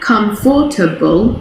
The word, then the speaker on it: comfortable: comfortable but really it's comfortable comfortable so it's not comfortable it's just comfortable okay so we actually lose a syllable there the same goes for